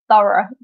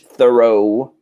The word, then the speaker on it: thorough: this word as well so the G and H we do not say is thorough exactly or in American English Thoreau but what does it